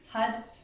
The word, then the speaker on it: Har: going to be chanting hut hut hut hut is spelled har it's pronounced as if it's almost a D sound hut hut hut and